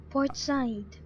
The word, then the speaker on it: Port Said: I'm not sure let's see what how to pronounce what I said port side port side that's how it's supposed to be pronounced okay port side support